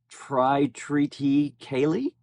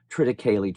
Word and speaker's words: triticale: This Orion captain I laughed out loud hearing him say Tri-Treaty Kaylee. I don't know if that was intentional or not. Of course, he's talking about Quadro Triticale.